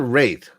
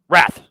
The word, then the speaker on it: Wrath: Like Azura's Wrath or Wraith? Wrath. WRATH.